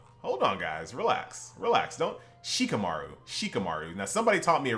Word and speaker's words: Shikamaru: I have to make sure that I go out of my way to try to pronounce every letter. Because like in the English language, we skip a lot of letters. A lot of letters are silent. Not here. So Shikamaru. Got to make sure you pronunciate every single letter.